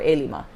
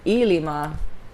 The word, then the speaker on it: Ilima: gets mixed up because because a Lima which is five is spelled CL IMA but a Lima which is my name is ili oh man well if